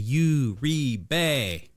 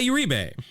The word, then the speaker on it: Uribe: of the syllables and it was Jose Uribe. It's Jose Urebe.